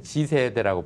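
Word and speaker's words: Z세대: 받아들이는 그런 요즘 이제 세대를 우리는 Z라고 하는데 G세대라고 발음하잖아요. G세대. 네네.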